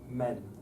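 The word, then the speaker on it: μὲν: The broad consensus is that we don't pronounce it. It means keep it level.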